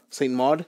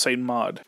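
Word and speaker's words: Saint Maud: very lowkey horror film called saint St mod yeah at least I think that's how it's pronounced s mod and this Stars Christian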